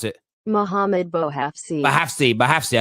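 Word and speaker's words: Bouhafsi: That is from Mohamed Basfari. I think that's how you pronounce it this way. That's how you pronounce it. Mohamed Bohafsi. Bahafsi. I keep saying Basfari. Sorry, Bahafsi has confirmed this news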